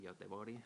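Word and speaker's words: Göteborg: la ciudad de gobor se pronuncia en español yot tebori diría en Suecia y Y entonces bueno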